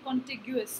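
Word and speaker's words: contiguous: कॉन्टिग्यूस, इसकी pronunciation है कॉन्टिग्यूस.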